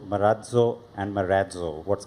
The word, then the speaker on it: Marazzo: rate uh the lighter question I've heard uh marzo marazzo and Maro what's correct yeah so the correct pronunciation is maratu and uh as you know the origination of